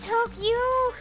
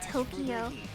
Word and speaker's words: Tokyo: A lot of people say Tokyo. Like 3 syllables. Tokyo. But that's wrong. That's wrong. That's not how you say it. Use it with 4 syllables.